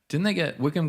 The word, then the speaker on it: Wycombe: Oh, that is pronounced Wickham.